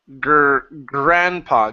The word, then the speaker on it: grandpa: And your last one here is grandpa.